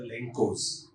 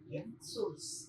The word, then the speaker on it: Lenços: there's a concept called the Lencos. Am I pronouncing it right? Lenços. Lenços. I will correct me. People who know Portuguese.